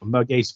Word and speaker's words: Merguez: You wanted to pronounce this one, Daff, actually. No, Merguez frites.